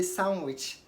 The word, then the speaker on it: sandwich: a handsome boy okay also D is not pronounced in Sandwich don't say sandwich say sandwich sandwich okay so that is it